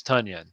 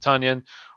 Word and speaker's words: Tonyan: question so it's dissley or ton or not tonyan it's tanyan that's that's how you say his name tanyan or dissley who would you go with ryan